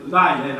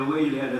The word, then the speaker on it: Weiler: E devo anche dire che, per esempio, nessuno se ne sarà accorto, ma soltanto io e Weiler, Weiler, a secondo senso come si vuole pronunciare, alla tedesca o all'italiana, abbiamo scritto lo stesso